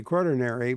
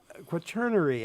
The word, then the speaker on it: quaternary: Larry Meer talking with Elmo Rowling and Eric uh Carson who are I'm I'm gonna mispronounce this again. I I want to say quartinary, but it's not quaternary. quaterary geologist quaternary I gotta get that right geologist professors in